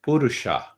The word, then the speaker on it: purusha: you know first understand purusha pur you see the poor is the first syllable and sha is the second syllable so we have many cities whose suffix is poor kanpur so the purusa